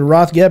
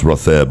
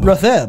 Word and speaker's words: Rothgeb: It's either Rothgeb or Rothjeb. The G is silent. It's Rotheb. Rotheb.